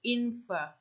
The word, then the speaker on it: infer: It's infer. So we barely pronounce the R.